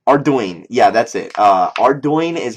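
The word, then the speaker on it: Ardougne: arone or ardoin ardoin yeah that's it uh ardoin is how it's pronounced like how the do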